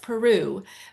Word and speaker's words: Pierrou: It's pronounced Peru, but uh it's got a a Belgium spelling.